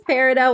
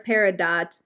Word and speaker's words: peridot: I don't know if it's Peridot or Peridot. I watched like 4 YouTube videos pronouncing the word and they all said it differently, or they said you can say it both ways.